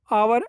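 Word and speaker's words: hour: भी करता है तो अवर ह क्या है हम साइलेंट पढ़ते हैं इसे तो अवर पढ़ते ना एंड अवर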